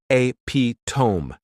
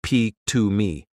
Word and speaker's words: epitome: across the word epitome I pronounced it as a to instead of P to me and I didn't realize